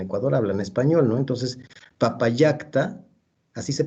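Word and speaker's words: Papallacta: Entonces, Papayacta, así se pronuncia. Si fuera latín sería Papalacta, pues a doble L. Ok, bueno. Laguna de Papayacta.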